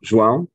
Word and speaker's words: João: I'm João. The pronunciation was almost there.